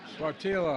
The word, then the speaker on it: Sáttítla: I mispronounced it the first time. Sáttítla Highlands in Northern California.